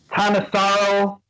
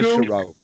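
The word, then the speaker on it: Thanissaro: So I've also taken a look at, and excuse me if I pronounce his name wrong, Tanasaro Biku, Tanisaro. Tanisaro. Tanisaro.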